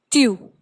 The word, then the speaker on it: tu: So your examples for these are, your first one is tu. Tu is you, and when we are pronouncing tu, you are just listening it that tu has a soft pronunciation when we are pronouncing it.